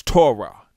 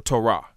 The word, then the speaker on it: Torah: most familiar Hebrew words, as you pronounce Torah or Torah. The spelling of that word is Tav, Wa, Ra, or Rash, and He. which would be T-U-R-H or T-O-R-H, because in the Hebrew language, the way it's pronounced today, the wa is pronounced either with an O or it's pronounced with a U.